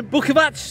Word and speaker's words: Bukovac: Beška, they're in the blue, and Bukovac, that's how you say it, they're in the grey.